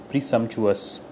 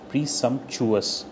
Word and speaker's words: presumptuous: Pronunciation presumptuous. Presumptuous. Chuous. presumptuous, that is how you pronounce this particular word.